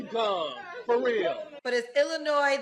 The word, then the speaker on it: Illinois: the time but it's Illinois the S is silent yes you are so dumb you are really dumb for real but is Illinois the S is silent